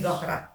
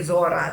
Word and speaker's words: Zohra: my name is Zahra, but they spelled it that way. So we say Zohra. Is it a Cape Townian thing or Pietermaritzburg thing? What The pronunciation. the Cape, they say Zohra here and we say Zora there.